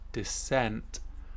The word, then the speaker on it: descent: which is very similar almost a homophone but slightly different stress on on the syllable decent something which is reasonably good or to an acceptable standard and desent which is to go